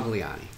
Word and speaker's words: Gliane: i can't find it i usually tell people they have when they have difficulty pronouncing my last name they think italian and they get it okay that makes sense